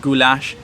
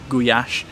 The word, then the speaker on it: gulyás: traditional Hungarian soup called goulash, or actually in Hungarian it's pronounced gulyás, and it was so good that I had to order another one.